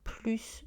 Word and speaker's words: plus: Et quand on utilise de, le S est prononcé, plus de photos.